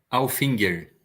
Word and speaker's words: Alfinger: Ou Alfinger, como que se pronuncia? Alfinger.